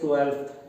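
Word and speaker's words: twelfth: हमें 12th कहने की आदत है, ये गलत है। तो आप यहाँ पर L लगाने के साथ यहाँ पर F लगाएंगे। Right pronunciation is 12th, F हल्का सा बोला जाता है।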